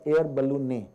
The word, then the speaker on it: ballonet: system called as the air balloon. Please note the T in this word is silent, so it's called as air balloon.